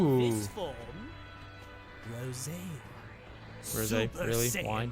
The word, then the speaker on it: Rosé: That's he's actually pronouncing it rosé, like the wine.